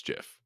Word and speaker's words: GIF: The creator of it said it's Jiff. Like if Did he type it out or did he say it? no, he said like they asked him. The creator of it said that it is pronounced Jiff.